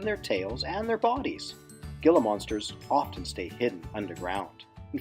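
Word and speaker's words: Gila monster: is known as a Gilla monster a Gilla monster a Gilla monster or hila monster if you want to pronounce it the Spanish way is a lizard and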